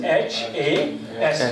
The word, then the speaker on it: has: So pronounce it has. It's has. It's has. Let's see its weak form. Let's see its weak form. The weak form is, it's like this, z or us.